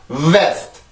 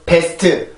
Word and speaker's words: vest: 절대로 best, best나 beast 이렇게 발음이 되지 않고 vest, vest, vest 앞에 소리가 들어온 상태에서 이렇게 소리가 올라가 주게 됩니다.